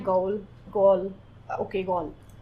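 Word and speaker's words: Gaul: और जैसे भी प्रोनाउंसिएशन है गॉल, गॉल, okay गॉल pronunciation, और उसके एक प्रोविंस का नाम है गॉल।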